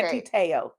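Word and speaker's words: Manti Te'o: Manti-Te'o. And why why you say it like one? I don't know. You say it like one word. I fuck it up. Okay. Manti-Te'o.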